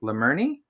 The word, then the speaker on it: Lemerney: Well, listeners, I would like to introduce you to Riley, who goes by the name Lemurny. Did I pronounce that right?